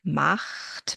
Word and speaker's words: macht: Then there's the back of the mouth CH sound, macht, because the CH comes after an A.